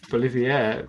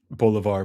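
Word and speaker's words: Bolívar: Next up, we have Simone Bolivier versus Horatio Nelson. I've never heard Bolivar pronounced like that.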